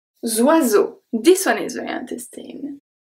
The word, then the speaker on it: oiseaux: So O-I make the sound wa. Wa. So zwa. Zwa. The S in the middle is pronounced as a Z because it's between two vowels.